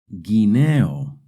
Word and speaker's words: guineo: When the G and the U are followed by an E or an I, the U is silent. Guineo, guineo.